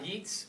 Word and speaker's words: Yeats: It's a poem by Yeats, or Yates, however you want to say his name.